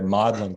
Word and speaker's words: Magdalen: both of those universities was magdalen college although as they pronounced it over their modeling college so i also feel